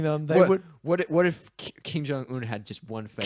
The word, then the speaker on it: Kim Jong Un: What if Kim Jong Un had just one favorite? King Jong Un. That was just a mispronunciation.